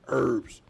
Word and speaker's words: herbs: Like I said, they say on the countries herbs, but we pronounce without the H in the United States as herbs.